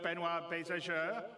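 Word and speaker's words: Benoit Beausejour: And without me waffling on, I'd like to bring CIG's CTO, Benoit Bézageur.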